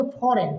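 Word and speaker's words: foreign: अगर जी आएगा तो जी क्या हो जाएगा, साइलेंट हो जाएगा। तो देखो इसको बोलेंगे साइन, इसको बोलेंगे फॉरेन, क्या बोलेंगे फॉरेन, फॉरेन मिनिस्टर माने होता है विदेश के लिए फॉरेन।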